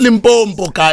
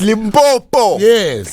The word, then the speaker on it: Limpopo: yeah boy boom boots not limp on polka it's Limpopo easy I'll let you